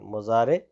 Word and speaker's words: مضارع: میں فعل مضارع، میم ضاد الف را عین، مضارع۔ مضارع جو ہے یہ 2 ٹینس ہمارے لیے، 2 زمانہ ہمارے لیے لے کر کے آتا ہے، ایک حال اور دوسرا استقبال۔ یعنی جب بھی کوئی مضارع کا ورب ہوگا، فعل ہوگا، تو اس کے